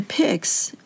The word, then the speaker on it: pyx: the sacred host properly and with reverence the pigs it's spelled pyx is a blessed vessel made Flat